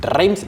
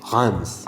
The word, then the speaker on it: Reims: En español diría Reyes, pero si decís Rims nadie te va a entender. La pronunciación entiendo que es Hans.